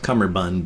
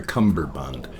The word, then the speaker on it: Cummerbund: DJ cumberbund or cummerbund it's spelled cummerbund but when I hear him say it it sounds like he's got a bee in there for cumberbund but he's DJ cummerbund